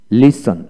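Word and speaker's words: listen: তারপর আসেন ওয়ার্ডের মধ্যে STE বা STL থাকলে এক্ষেত্রে টি এর উচ্চারণ বিশেষ করে হয় না। লক্ষ্য করেন এখানে লিসন লিসন, লিসনার লিসনার, হেশন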